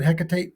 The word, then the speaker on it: Hecate: and he is it Hecate is that how you pronunciate it heate I've heard it both ways HEC like HEC and heate I've heard of both